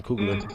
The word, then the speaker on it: Coogler: Ryan Coogler.